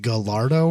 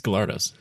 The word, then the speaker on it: Gallardo: at me for pronouncing gallardo wrong oh i like way back no like last week because you're not supposed to pronounce the l's because it's not it's galartis it's yeah and then